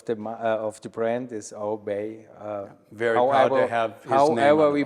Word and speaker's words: Oribe: you and everyone else it's really Uribe Canales he was Cuban but the world knows him as obey so you're right either